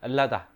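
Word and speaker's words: Ελλάδα: 엘라다. 현대 그리스어 발음을 엘라다라고 하는데, 그리스란 말을 이 고전 전공자들은 별로 안 좋아합니다.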